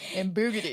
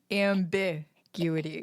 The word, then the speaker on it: ambiguity: comes out with ambugity and I was like ambu ambu ambukity ambiguity how the heck you I still to this moment can't ambig how do you say it you have to say the ambiguity ambiguity ambiguity good job